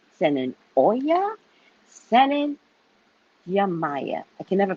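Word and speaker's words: Yemayá: Send in Ogun, send in Chango, send in Oya, send in Yamaya. I can never pronounce the other way. Yamaja. I say it wrong. Yamaya.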